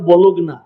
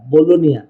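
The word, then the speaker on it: Bologna: হ্যাঁ, উচ্চারণ বলুগনা, জি দিয়া নেন, বলুন বলু, জিটা উচ্চারণ করে না, বলোনিয়া।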